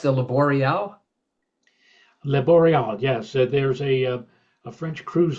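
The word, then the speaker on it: Le Boréal: Was the pronounced the Laboreal? Le Boreal, yes.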